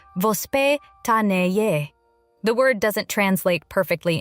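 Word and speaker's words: воспитание: To understand why many Russian children develop healthier eating habits, you first have to understand a Russian parenting concept called vospitanie, pronounced vospitanie.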